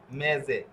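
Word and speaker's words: mese: এটা হচ্ছে একটা নিয়ম এইযে দেখুন মেজে ঠিক আছে এস অক্ষরের আগে একটা এ অক্ষর রয়েছে এ বুকালে রয়েছে পরে এ বুকালে রয়েছে অর্থাৎ এস অক্ষরটি যদি দুইটি বুকালের মধ্যে থাকে এস অক্ষরের আগে এবং পরে যদি ভোকালে থাকে তাহলে এস অক্ষের উচ্চারণ এর মত হবে এরপরে এইযে দেখুন পেজারে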